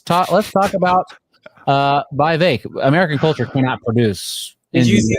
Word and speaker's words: Vivek: uh let's talk about V VI rhymes with cake ramas Swami uh Michael's